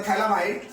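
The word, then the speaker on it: phthalimide: होती है हमारे पास, उसको बोलते हैं गैब्रियल थैलामाइड सिंथेसिस। तो गैब्रियल थैलामाइड सिंथेसिस क्या होती है? उसमें हमें एक कंपाउंड लेना होता है जिसका नाम है थैलामाइड।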